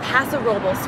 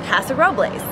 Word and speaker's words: Paso Robles: When I first read the word Paso Robles, my 8 years of Spanish teaching taught me that it should be pronounced Paso Robles. That was when I actually went to Paso Robles, and all the locals there looked at me like I was a total freaking wine blonde for pronouncing it Paso Robles.